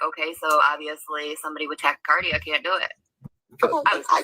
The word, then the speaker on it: tachycardia: participate in a polygraph test because you have tachycardia, or however it's pronounced, but your heart beats Yep. faster. It's tachycardia.